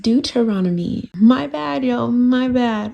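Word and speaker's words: Deuteronomy: you guys my apologies I said the word wrong again it's pronounced du teronomy my bad y'all my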